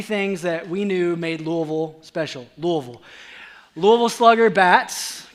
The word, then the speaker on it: Louisville: I am originally from Louisville Kentucky that's right that's how you say it Louisville right not Louisville not Louisville but Louisville Louisville Kentucky and um